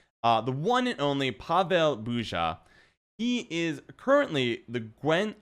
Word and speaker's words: Burza: So, wait, Burza or Buja? Which do you prefer? Burza is the Polish pronunciation.